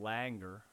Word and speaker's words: Langer: author's name is Ellen Langer. Is that how you say it? Langer, yeah, yep.